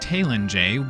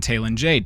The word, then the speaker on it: Talen-Jei: Even earlier in this video, you might have caught that I said Talen-Jei while Brynjolf said Talen-Jei.